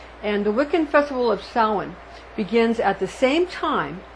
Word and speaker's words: Samhain: That's pronounced Samhain. It's spelled like Samhain, but it's pronounced Samhain.